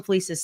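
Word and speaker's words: Fliess: Like Wilhelm Fleece by the way you want to look up this guy Wilhelm Fleece. Lisa is spelled F L E I SS.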